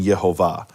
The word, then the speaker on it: Yehovah: that vowel in, and it spells out the pronunciation Yehovah.